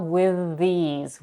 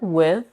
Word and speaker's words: with: Next we have with these. The word with or with, you can pronounce with either a voice TH or a voiceless TH.